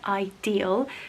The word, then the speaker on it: Idyl: So to give you a close-up of the branding, it is called and pronounced Idyl.